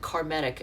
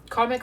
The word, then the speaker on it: karmic: Oh, and then one of the readers always calls it karmatic, and it cracks me up whenever she does it. She says, oh, it's karmatic, and I'm like, that's not how it's said.